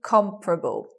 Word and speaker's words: comparable: word okay it becomes you anticipate comparable you anticipate four syllables but you get three comparable with the stress on the first so the stress being on the first this second second vowel disappears their listeners of schwa after the first stressed syllable so we don't